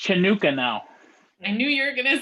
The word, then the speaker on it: Chanukah: to me what am i saying wrong craig hanukkah hanukkah it's pronounced chanukah now i knew you're gonna say that you